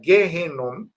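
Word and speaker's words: גיהנום: que el valle del hijo de Inom, que en hebreo se pronuncia Gjenom, que como ahí hubo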